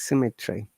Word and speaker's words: symmetry: It is not cemetery, guys. It's symmetry. Cemetry.